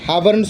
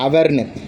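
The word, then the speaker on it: hour: எப்படி ஹவர் அப்படிங்கிறது அவர்னு நம்ம சொல்கிறோம், ஹவர்னு சொல்லக்கூடாது. அவருங்கிறது மேலே இருக்குது பார்த்தீங்களா, அந்த ஹச்சு ரெண்டு இதுலேயுமே ஹச்சு சைலண்ட்டுங்க. OUR இதை தான் நம்ம ப்ரொனவுன்ஸ் பண்ணணும், அவர்னு.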